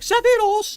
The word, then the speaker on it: Sephiroth: I pronounce it like this, Sephiroth. In the song, the lyric is like Sephiroth, like it ends with like an S.